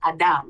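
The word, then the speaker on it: אדם: um messages come first in Hebrew human is is um pronounced Adam like Adam Adam and land is Adama Adam and Adama and what we say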